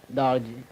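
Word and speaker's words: Dargoi: Well, how do you spell it? It's a colloquial language, D-A-R-G-O-I, Darji.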